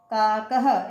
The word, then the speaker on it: काकः: और इनका उच्चारण है की तरह करते हैं, है ना। है की साउंड आती है ना जब अपन बोलते हैं, जैसे मंडूकः, कपोतः, पर्यंकः, दूरभाषः, काकः। इसको काक नहीं बोलेंगे, सौचिक नहीं बोलेंगे, है ना।